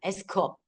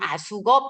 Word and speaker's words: AskUp: 아숙업이라고 치시면 자, 이 영어 발음은 에스크업입니다. 에스크업. 그런데 한국어로 할 때는 아숙업 이렇게 이야기하죠.